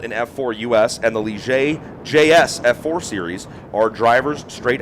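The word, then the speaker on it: Ligier: where they're most known it's spelled l i g i e r yeah it's not lier no you learned that lesson though it's Li and uh pretty cool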